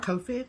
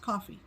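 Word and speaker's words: Ko-fi: and um they are Kofi Kofi well somebody commented and said it's just pronounced coffee there you go so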